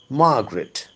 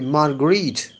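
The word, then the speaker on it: Marguerite: mared the psycho analyst Margaret I think the better pronunciation would be margarit and the full name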